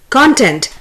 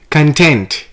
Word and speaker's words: content: on l-i-e-f the word is content the noun is content c-o-n that's where the stress is here in verb the stress is on t-e-n-t and the word is content the word is conduct